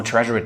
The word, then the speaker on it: Tresor: Let me pronounce it the German way because well, I’m German: Tresor.